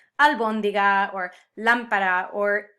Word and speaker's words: lámpara: And this is another sound the Spanish language gravitates to, these words that have the emphasis on the third to last syllable, like albóndiga or lámpara or esdrújula, a word